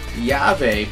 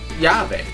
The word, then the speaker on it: YaVe: anyway yve it is yave but it's spelled you know pronounced the Spanish way which is yave so I know what